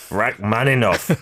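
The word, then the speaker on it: Rachmaninoff: performance of a rakman and I'm going to mispronounce this aren't I Rak manov man Rak manov there we go all right so you've already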